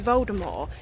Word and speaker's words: Voldemort: The T at the end of his name is supposed to be silent, so it's supposed to be Voldemort.